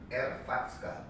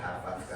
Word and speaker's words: Hrvatska: Nah karena supaya pengucapan Indonesianya gampang, saya selipin A di sini. Maka jadilah Harvatska tadi.